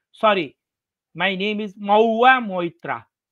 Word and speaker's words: महुआ: हाँ, मऊ नहीं नहीं, उनका राइट प्रोनाउंसिएशन है महुआ, महुआ मोइत्रा।